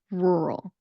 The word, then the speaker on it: rural: And so our ninth word is going to be rural. Rural is spelled with two R's. It is Rural. And that two R sound is very difficult for people to pronounce.